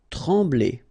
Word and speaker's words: trembler: Trembler, okay, same thing here, nasal, M, okay, trembler, okay, no pronunciation of the M, trembler.